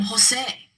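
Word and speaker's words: José: look at the name Jose since the rule is broken we write in the accent on the last syllable but I will tell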